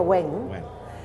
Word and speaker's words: Wing: Però sí que en línies, en contraportada, en llenguatge de contraportada, és la història d'una xineta que es diu Wing, però es veu que es pronuncia Wang, que és, de fet, és nascuda a Hong Kong, que no saps si és xina del tot, no?